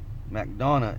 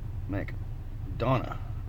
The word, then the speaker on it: McDonough: in here by itself McDonough is how you say it oh yeah Mac Donna Georgia oh that's cool that's